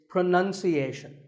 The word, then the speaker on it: pronunciation: you say it well we say pronounce pronounced and pronouncing but pronunciation there's no noun in this word it's pronunciation word number two is